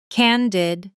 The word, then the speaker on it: candid: Here's the natural stress pattern. Candid. Stress on the first syllable, and the second syllable is quick and light. Did, almost swallowed.